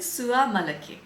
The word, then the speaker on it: Soie Malaquais: I wrote down the pronunciation because I don't know how to pronounce this brand. It's Dries van Noten Sua Malaki.